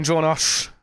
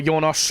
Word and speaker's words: Junosh: Right, Hard J.